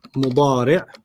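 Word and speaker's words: مضارع: And then the present is mudari'. Mudari'. Mudari'. You don't have to pronounce the tanween, just mudari'.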